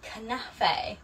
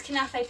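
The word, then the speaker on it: knafeh: when I visited last year and it's called canafe which is spelled k-n-a-f-e-h and it is an Israeli dessert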